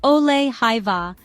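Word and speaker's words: ole hyvä: Ole hiva is pronounced ole hiva with the emphasis on the second syllable of hiva. The O sound is similar to the U in fur, but with rounded lips.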